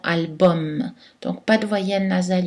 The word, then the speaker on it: album: allemands comme einstein et aux mots latins ou la terminaison uem est prononcée hommes comme dans album donc pas de voyenne